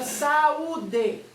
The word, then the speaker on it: saúde: Quando eu vou separar essa palavra em sílabas, eu faço o sa, tracinho U com acento agudo, tracinho DE. Então eu tenho sa, U, D.